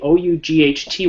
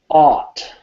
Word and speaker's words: ought: O-U-G-H-T, which is pronounced ought. Ought. Ought. Okay, so if you look at my lips here, you'll just see how I do it. Ought. Ought. Ought. Ought. Yeah. Don't pronounce the GH.